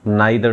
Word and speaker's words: neither: If subjects are connected with either or, neither nor, कुछ लोग इसे आइदर और भी पढ़ते हैं और कुछ लोग नाइदर नॉर भी पढ़ते हैं। आपको स्पेलिंग ध्यान रखनी है, EITHER और नीदर की होती है NEITHER।